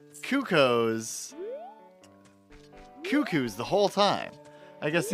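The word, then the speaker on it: Cucco: of cucko like yeah it's definitely cucko not cuckoo but that's you know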